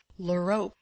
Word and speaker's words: l'Europe: Ah, my dear Vicomte, put in Anna Pávlovna, l'Europe. For some reason she called it Europe, as if that were a specially refined French pronunciation which she could allow herself when conversing with a Frenchman.